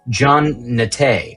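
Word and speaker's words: Jean Naté: It's pronounced Jean Nate.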